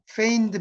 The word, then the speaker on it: feigned: 그러니까 햄릿을 이제 미친 척 한다고 해서 이걸 이제 feigned madness라고 그래요. feigned madness. 이 feign이라는 것이 이제 여기서 지가 발음이 안 되는데 뭐뭐 인체하다는 지.